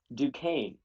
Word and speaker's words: Duquesne: the game Duquesne okay there's a high school near my town called dude Chesney's and that's what I'm used to Duquesne operatio 49 to 34